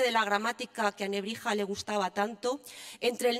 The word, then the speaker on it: Nebrija: De ahí a la Nebrija, escrita con X, pronunciada posteriormente como una J, había solo un pequeño paso.